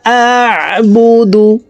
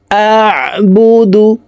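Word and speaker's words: أَعْبُدُ: কুল ইয়া আইয়ুহাল কাফিরুন লা আ'বুদু, হামজা আইন জবর আ, আইন হরফকে হলকের মধ্যখান থেকে উচ্চারণ করব। আ'বুদু, লা, লাতে 3 আলিফ টান।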